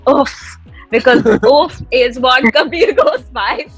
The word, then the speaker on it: OAFF: people are butchering it so it's OAF, that's my name.